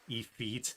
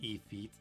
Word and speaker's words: Ifrit: Ifrit. Efeet. There's no R, just Efeet.